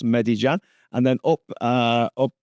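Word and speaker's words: Medellín: so there's Bogata there there's medij Jan that's how that's pronounced Med Jan and then up uh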